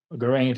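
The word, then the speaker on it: Geraint: sexual relationship so we had Gareth and Lynette Gant and Enid that's how it's pronounced Merlin and Vivian who did have a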